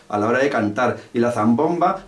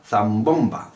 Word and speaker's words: zambomba: The word "zambomba" has the stress in the second syllable. I use the way of pronouncing "zambomba" to play the instrument. I want the instrument so say "zambomba" and I put the intensity in its place.